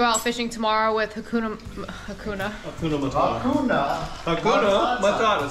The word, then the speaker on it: Hakuna Matata: we're gonna go out fishing tomorrow with Hakuna Hakuna Matata say it again you're right how do you